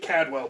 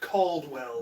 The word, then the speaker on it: Caldwell: I always pronounce it Cadwell, but it is in fact Caldwell. There's an L in there.